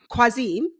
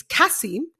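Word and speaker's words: Qasim: how to pronounce names it's cassim it's you don't pronounce the Q not like that and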